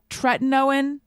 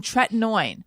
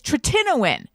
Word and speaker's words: tretinoin: No one let me know I was saying that wrong. And then I was like, oh, it's tretinoin. But now apparently it's tretinoin.